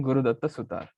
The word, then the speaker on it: Guru Datta Sutar: Let us bring in Guru Datta Sutar.